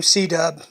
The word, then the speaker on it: C-Dub: And that's how I picked up the nickname C-Dub. Because it's C and then WD, so he would just pronounce it C-Dub.